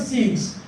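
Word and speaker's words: sixth: born on October the 6 there is possibility that this th was sounded but it would be pronounced why because there is an X before the th so that ex will swallow the please do you understand this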